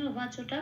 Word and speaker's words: উবাচ: আচ্ছা, এখানে অর্জুন উবাচটা প্রথমেই বলে নিতে হবে। উবাচটা বলতে হবে ওয়া, বয়াকার আছে ওটা হবে ও প্লাস আ ওয়া।